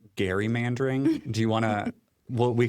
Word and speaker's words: gerrymandering: You know the one thing I want to let Kathleen correct is that it's actually pronounced Gary Mandering.